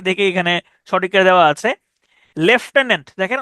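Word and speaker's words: lieutenant: আন্ লাই ইউট আন্ কিন্তু উচ্চারণ হচ্ছে লেফটেন্ট লেফটেন্ট ওকে এরপরে দেখেন হেটেরোজেনিয়াস।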